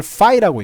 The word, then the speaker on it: phi: 여기 있는 그 O하고 I를 합쳐놓은 것 같은 이 글자, 이거를 phi라고 읽거든요.